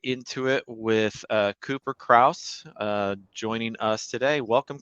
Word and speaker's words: Krauss: it with uh Cooper Krauss uh joining us today welcome Cooper thanks Joe um also pronounce my last name right which is which is great most the time people say cross uh so appreciate you